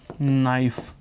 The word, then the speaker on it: knife: KNIFE चाकू की spelling में आप क्या लिखते हो? KNIFE, और इसको बोलते क्या हो? नाइफ। क्या बोलते हो? नाइफ। नाइफ तो NIF ही हो गया, NIFE ही हो गया। के क्या हो गया? तो आप तुरंत कह दोगे सर के क्या है? साइलेंट है। के क्या है यहाँ पर? साइलेंट है।